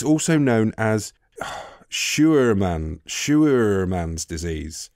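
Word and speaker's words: Scheuermann: And it's also known as Shuerman's disease. Right. It's when it's named after a doctor. S-C-H-E-U-E-R-M-A-N-N... Shuerman.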